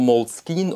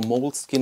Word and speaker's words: Moleskine: the entire globe and this is from Moleskine or mold skin I think you can pronounce it French or or English and these nice notebooks